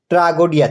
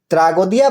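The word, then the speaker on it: tragoidia: শব্দটি এসেছে গ্রিক শব্দ ট্রাগোডিয়া থেকে যার অর্থ সাকসঙ্গী গ্রিকরা ট ও ড উচ্চারণ করে না তাদের উচ্চারণ ত যাই হোক এই ট্রাগোদিয়া বা ট্রাগোডিয়া থেকে কিভাবে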